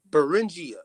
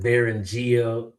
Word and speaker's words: Beringia: How do you say this word? It's Beringia. Anybody heard of that word Beringia before out there in the chat? Or is it Beringia? Beringia.